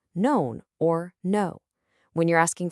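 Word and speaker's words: não: When you have to say known or no, when you're asking for help and you point with your mound, your hand.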